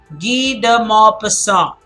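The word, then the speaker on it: Guy de Maupassant: this is key okay this is not guy this is D D de Maupassant G de Maupassant that is how you say it G the mob persona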